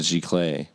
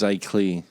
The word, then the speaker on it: giclée: And you'd rather have the original, of course, but the image of it, the replication of it, the giclée version, is just as special.